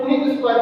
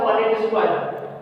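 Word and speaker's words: Punnett square: इसको कुछ लोग प्रोनाउंसिएशन में पुनीत स्क्वायर कहते हैं, बट ये होता है पनेट स्क्वायर।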